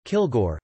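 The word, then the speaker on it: Kilg%re: from outer space named kilg percent re pronounced kilgore who fought the flash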